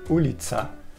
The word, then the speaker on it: ulica: Et le U se prononce OU. Alors, par exemple, on dit Ulica pour la route.